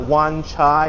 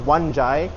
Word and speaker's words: Wan Chai: Like it's not Wan Chai, it's Wan Chai.